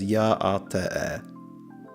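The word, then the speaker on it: Yá'át'ééh: It's pronounced roughly as Ya'ate.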